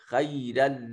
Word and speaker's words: خَيْرًا: لَكَانَ خَيْرًا لَهُمْ, خی میں دیکھیے یا ساکن ہے ما قبل مفتوح تو یا لین ہے, اس کو خے نہیں کہیں گے خی کہیں گے.